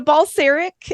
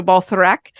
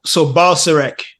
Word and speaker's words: Balcerek: So Balcerek is the American pronunciation, but it is a Polish last name. So Balcerek is the Polish way to say it. So Balcerek.